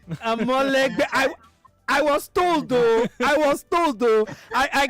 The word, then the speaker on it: Amolegbe: The pronunciation is Amolegbe. Amolegbe.